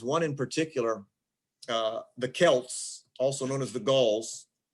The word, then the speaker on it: Celts: in what's now france the gulls were also known as the celts we would like if if we said it right the nba franchise would be the boston celtics but it's the celtics well we say celts but it was the celts they were a germanic